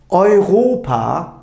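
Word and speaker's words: Europa: bir anlat dolmuş oluyor e de uyu bir arada gördüğümüzde Arkadaşlar bu ay şeklinde telaffuz ediliyor ayet ayhopa Evet Anlaşılacağı üzere Avrupa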